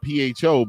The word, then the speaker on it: pho: It's spelled PHO, but it's pronounced pho.